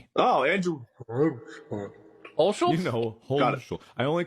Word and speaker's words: Hulshult: It's Hulshult. Oh, Andrew. Olschultz? Hulshult. I only call him Andrew. I've never heard it pronounced.